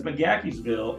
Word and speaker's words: McGaheysville: the correct pronunciation is I don't see a K in there but apparently there is okay uh but there's that like so as we said it's McGaheysville and the cool thing about mcgackersville it sits it's right